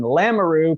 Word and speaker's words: Lamoureux: I'm Danny Valdez and with us today is Manique and Jocelyn Lamaroo pronounced like kangaroo I just learned for the live signing